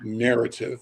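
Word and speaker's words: Knarrative: social media project called narrative and you'll see me wear their gear it's a hoodie narrative is spelt like word knowledge but knowledge sounds like an endless spell with a k k n o w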